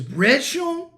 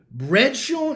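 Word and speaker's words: Brendson: His name is Bredshon Ribeiro. Bredshon. It's like 3 different syllables.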